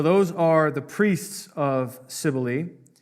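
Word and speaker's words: Cybele: So those are the priests of Sibily. Sibily, by the way, is spelled with a C. C YB L.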